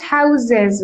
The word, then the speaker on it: houses: atmosphere atmosphere atmosphere yeah in our guest houses houses when it's plural we pronounce it houses even guest houses ha usually